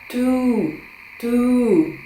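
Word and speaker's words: two: Вимовляється це як to.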